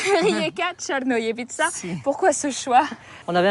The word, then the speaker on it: Rijeka Crnojevića: Allez, prononce-le. Rijeka Černojevica.